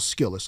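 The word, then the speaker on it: Skillest: It's almost like skillet it, but put the S in there.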